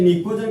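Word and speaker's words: pnicogen: देखिए निकोजन का पी जो साइलेंट होता है, निकोजन का पी क्या होता है आपका? साइलेंट।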